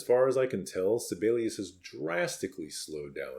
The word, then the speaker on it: Sibelius: And why do you keep saying Celius? It's Sibelius. Actually, Sibelius was from Finland. And so the correct pronunciation would be something like separus.